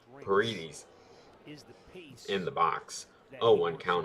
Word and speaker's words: Paredes: I don't know how to say it because I keep thinking Padres every time I see it, but it's not Padres because that is an R and not a D.